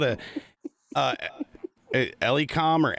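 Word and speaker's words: Elecom: i will endorse this it's called it uh eliecom or elcom it's it's spelled e-l-e-c-o-m i have a e-x-g model i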